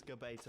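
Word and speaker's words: Gbeto: about the pronunciation, it's Gabeto. I'm sure.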